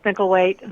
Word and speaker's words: Mickelwait: So please welcome to the show my guest, Kristen Mickelwait. Thanks, Phil. Well, now, did I pronounce that correctly, the last name correctly? The last name's great. It's Mickelwait.